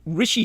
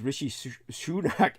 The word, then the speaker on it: Rishi: even remember his name Rishi sunak Rishi shunak oh yeah he went to